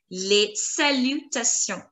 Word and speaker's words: salutations: Together, les salutations, les salutations. Salutations. Les salutations. Now in les, S is going to be silent, and in salutation, N and S, they are going to be silent. Les salutations.